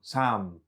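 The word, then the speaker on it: Sahm: a stubby little gem this Sam Sam doing like phonetic kind of for those with kids kind of phonetically wording out the word of the brand of the glass s-a-h-m they make quadrifugal glasses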